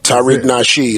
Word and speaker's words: Tariq Nasheed: back again another episode and the educated brother Tariq nashed is that how you pronounce it that's it sir Tariq nashed I always want to get people names right